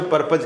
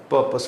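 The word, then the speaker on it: purpose: पर्पस होता है उद्देश्य, जिससे हम पर्पज कहते हैं, एक्चुअली शुद्ध उच्चारण उसका पर्पस होता है।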